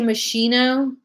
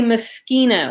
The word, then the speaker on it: Moschino: it and they say Moschino but but it's in Italian you're gonna say Moschino like it's just this is how the Italians would do it my first show was